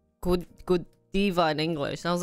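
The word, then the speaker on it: Godiva: know that Thea was pronounced gadaa I thought gadiva was pronounced Kiva because in Korea they pronounce it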